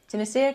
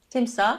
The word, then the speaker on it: Timsah: Timisia, correct pronunciation? Timsah.